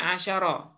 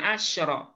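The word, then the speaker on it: عَشَرَ: Nah, cuma kalau dia dalam kondisi mudzakkar, nah itu bacaannya asyara. Salasata asyara, bukan asyra.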